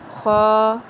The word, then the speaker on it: خ: سے پرہیز کرنا ہے، یعنی بے، تے، سے، ہے، خے، توئیں، زوئیں وغیرہ ہرگز نہیں پڑھنے، بلکہ با، تا، سا، ہ، خ، تو، زو پڑھیں گے۔ حروف مفردات میں سے